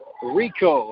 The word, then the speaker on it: Rehkow: Pinch hitter Jackson Rico. It is spelled Rehkow.